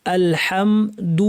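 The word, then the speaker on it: الْحَمْدُ: অনেকে ভুল করে আলা এরকম বলেন এরকম না আল হা বলার সময় গলার মাঝখান থেকে স্পষ্ট করে আওয়াজটা গলাটা খুলে দিতে হবে আলহামদু বলার সময় ঠোটটাকে গোল করতে হবে লিল্লাহি শব্দে লামে জের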